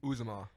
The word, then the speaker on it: Uzomah: Uzomah.